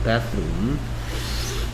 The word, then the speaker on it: bathroom: 자, 선생님이 bathroom이라고 할 때 혀를 살짝 무는 이유가 침을 튀기기 때문에 요새 안 하는 게 좋지만 이 발음은 th가 나오면 혀를 살짝 무는 발음입니다. bathroom.